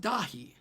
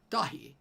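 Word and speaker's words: Dáithí: Pronounced Dahi. Dahi. Irish for David.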